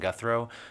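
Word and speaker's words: Guthreau: thank you madam chair my name is guthro spelled last name guthro g-u-t-h-r-e-a-u I serve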